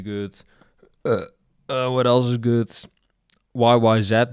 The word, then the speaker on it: YYZ: YYZ, that's how you're supposed to pronounce it.